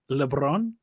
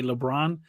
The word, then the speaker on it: Lebrón: don't harp on it even though it's pronounced LeBron I don't argue if people just say LeBron so yeah oh okay